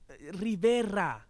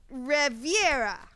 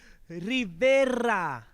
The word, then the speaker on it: Rivera: Rivera. Riviera. Rivera. I'll have to practice that new word.